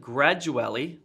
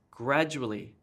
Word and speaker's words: gradually: this gets stressed and instead of gradually that's wrong it's gradually gradually this gets emphasized here